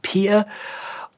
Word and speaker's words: peer: Das englische Wort Peer, also ausgesprochen Peer.